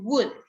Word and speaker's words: would: No, you have that letter L is a silent letter. He would.